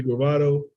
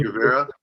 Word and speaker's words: Guevara: Yeah, because I was listening at, I don't know if you know Sammy Gravato. You know him, Sammy Gravato, the one with, I might be saying his name wrong, but Sammy Guevara.